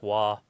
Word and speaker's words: Roy: yeah but it is it's spelled Roy but it's wah wah Patrick Wah that's my favorite but